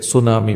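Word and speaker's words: tsunami: एक अपरिचित शब्द मैंने वहां देखा जिसका spelling T एस यू एन ए एम आई था जिसे सुनामी पढ़ा जाता था।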